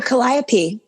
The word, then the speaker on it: Calliope: know how to say the mother's name oh Calliope Calliope about orpheus's Mom in the song yes